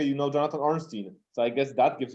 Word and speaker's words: Ornstein: mistake i guess because of the way it's pronounced that they think my name is orenstein o-r-e-n-s-t-e-i-n so sometimes my mail goes to jonathan